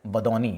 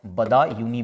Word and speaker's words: बदायूनी: अब्दुल कादिर है ना, अब्दुल कादिर बदौनी, ठीक है, या इसको बदायूनी भी कहते हैं, दोनों ही, आप बदौनी भी लिख सकते हैं, एक ही बात है, ठीक है, ये प्रोनाउंसिएशन है।